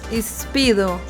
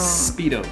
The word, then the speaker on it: Speedo: Pero en inglés es solo el sonido S de una. Espido, no. Speedo. Espido, no, no soy capaz.